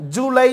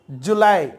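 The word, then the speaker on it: July: Okay, nice பாருங்க, month, month name பாருங்க, ஜூலை, ஜூலைன்னு சொல்லுவோம், ஜூலை சொல்லுவோம். ஆக்சுவலி ஜூலை கிடையாது, ஜூலை, ஜூலை.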